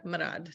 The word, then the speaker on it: Mrad: enthusiasts I know yeah um we have Sarah marad on the show tonight maybe said it better when we were before we hit record but Sarah manad did I say it right you said it